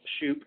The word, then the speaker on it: Shouppe: it's um it's free so my last name is spelt shoop s-h-o-u-p-p-e and you can go to my website